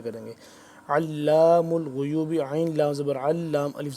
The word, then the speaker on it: علام الغیوب: آ رہے ہیں جس کو ہم کریں گے ہجے کریں گے۔ علام الغیوب عین لام زبر علام الف زبر لا علام